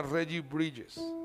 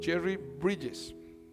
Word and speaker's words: Jerry Bridges: el escritor se llama regie bridges Jerry bridges se escribe bries con g y se llama pecados